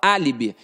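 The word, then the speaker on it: álibi: Ninguém fala alibe, a gente fala alibe. E ao falar alibe, eu vejo que tá na antepenúltima sílaba.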